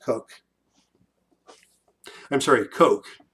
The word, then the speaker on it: Koch: pronounced cook dave cook it's spelled koch but pronounced coke i'm sorry coke coker cook one of those